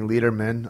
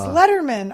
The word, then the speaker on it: Lederman: with us Miss Annie leaderman uh it's Letterman are you kidding me you don't know how to pronounce my last name she's a Jew that's